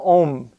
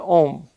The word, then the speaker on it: Ohm: physicist and mathematician his name is george ziman om now if we pronounce it according to english tran uh pronunciation we would say george simon ohm he was a school teacher whose research began